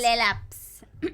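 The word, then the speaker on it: Laelaps: Lelaps.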